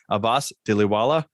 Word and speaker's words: Abbas Dhilawala: Today with us to talk about this subject is Abbas Dhilawala.